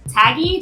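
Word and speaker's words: TAGIE: So this game is also up for Taggy. Did I pronounce that right?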